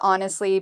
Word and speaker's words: honestly: Well, we pronounce honestly by putting the stress on the first syllable.